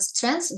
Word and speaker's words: strength: your strength and weaknesses when you pronounce the word strength don't say J because it sounds like strange but strange you know what it means yeah so strength immediately th without G strength and weaknesses so I'm